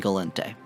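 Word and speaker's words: Gallente: as i am aware they are pronounced khaldari minmatar amar and galente the kaldari and galente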